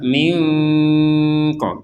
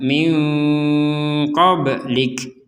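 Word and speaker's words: مِنْ قَبْلِكَ: Ini juga sama, nun sukun bertemu dengan huruf qaf, ini juga samar minko. Jadi jangan langsung dibaca minko atau dibaca jelas minko. Jadi dibacanya min qablik.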